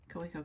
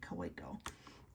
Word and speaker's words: Kaweco: So I realized that the W in some dialects is pronounced like a V, but I don't talk with that dialect, so I never use the V when I say Kaweco.